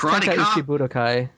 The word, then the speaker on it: Tenkaichi Budokai: It's Tenkaichi Budokai. That's the correct pronunciation.